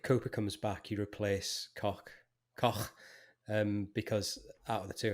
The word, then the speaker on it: Koch: But what I thought Koch should point out that it's pronounced Koch, and you use the H as in from the word home.